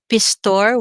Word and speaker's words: Pistor: It has a Holland origin, but it's my father's name, so it's Pistor with a single O.